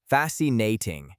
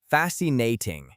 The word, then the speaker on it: fascinating: The stress is strongly on the very first syllable, fascinating. The middle syllables are very quick. Let's practice the word first, fascinating.